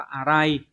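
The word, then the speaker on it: 粗い: Số 2 là chữ thô, cắt thô cũng có thể dùng được nhưng mà cái từ này ấy, nó đọc là arai, như vậy thì tính từ ghép vào sẽ phải là ara cự.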